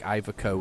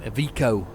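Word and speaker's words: Iveco: even saying it wrong it's like ivaco or something like that I've ivaco um avico is how you pronounce it because it's Italian um I hadn't realized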